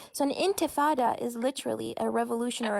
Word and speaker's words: intifada: said revolutions are terrorism I said I said antifas are terrorism first of all it's not it's